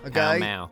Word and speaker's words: Pall Mall: Palamaglio, or Pall Mall, the pronunciation of which can still be heard in London today, when locals pronounce the street name of the same name. Pall Mall.